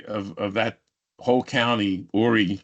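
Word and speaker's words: Horry: of that whole County aie County spelled with an H so I'll let you go where you want with that joke um but uh ory county was like 35,000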